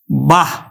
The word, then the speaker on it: বাহ: পদ আহ শিক্ষার্থী বন্ধুরা এই বিসর্গের উচ্চারণ কিন্তু কেবলমাত্র অর্ধহ এর মত উচ্চারণ হয়ে থাকে যেমন আমরা লিখবো কিন্তু বা উচ্চারণ করব বাহ এই যে হস দিলাম